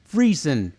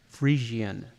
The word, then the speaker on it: Frisian: people actually pronounce Friesen instead of the correct Frisian. It's like Asian, except free.